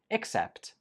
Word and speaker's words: except: This one is pronounced accept, accept, and this one is pronounced accept, accept. The only difference is in the first syllable, uck and ick.